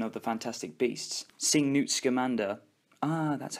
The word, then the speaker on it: Newt Scamander: Also, another interesting addition is the inclusion and exploration of the Fantastic Beasts, seeing Newt Scamander, that's how you say it, and his interactions with these creatures and his pure love for these animals.